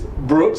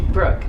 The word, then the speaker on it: Brooke: This is Miss Brooks. Did I say it right? Yes. Brookie. Brooke. Just Brooke. That's Brooke.